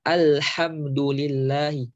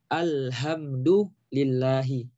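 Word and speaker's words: الحمد لله: Dia yang seharusnya dibaca alhamdulillahi ha dengan ha tipis. Alhamdulillahi. Tapi karena dia ini nggak mau nih belajar baca Quran, malas dia baca, sehingga dia salah baca. Dia bacanya jadi apa? Menjadi alhamdulillahi. Ya. Yang seharusnya alhamdu hak tipis ya alhamdu. Menjadi alhamdu. Ini fatal. Sangat fatal.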